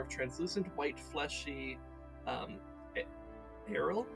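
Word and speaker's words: aril: translucent white fleshy um Arrow I guess is how you pronounce yeah an arrow the areola of the fruit not the areola the arrow the a-r-i-l with a floral smell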